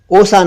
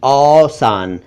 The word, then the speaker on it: औसान: इसके अलावा एक शब्द उर्दू में है औसान, सेंसेस, औसान नहीं, औसान।